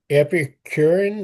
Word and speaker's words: Epicurean: Okay, to the Epicurean, is that pronounced right?